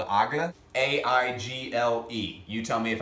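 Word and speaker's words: Aigle: boots that were made by a brand called aga a-i-g-l-e you tell me if i pronounced it right but what they did is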